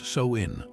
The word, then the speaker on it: Samhain: Samhain, pronounced Samhain, wasn't just a celebration, it was a night of profound danger and possibility.